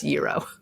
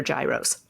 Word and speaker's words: gyro: It's like a very soft G. See, Spencer's learning Greek. And whereas in New Albany, Indiana, where I grew up, they're gyros.